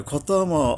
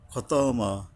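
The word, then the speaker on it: خَتَمَ: আচ্ছা, এরপরে খতামা আল্লাহু, খতামা, খাতামা না খ, এটার হরফে ইস্তিওলা, অর্থাৎ মোটা করে পড়তে হবে।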